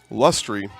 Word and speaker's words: Lustry: Hey, Tanner, thanks for watching the broadcast today, as that one is bunted foul by Mel Lustry. I was given a pronunciation update there. Lustry.